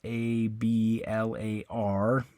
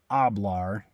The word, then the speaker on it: hablar: so on that one the stress is on the last syllable which is the a